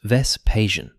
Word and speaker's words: Vespasian: Let's talk about Vespasian, pronounced Vespasian.